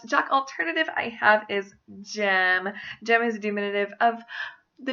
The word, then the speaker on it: Jem: alternative I have is Jem Jem is diminutive of the names James or Jeremiah a lot of people when they say gem will thank Jim Finch would which is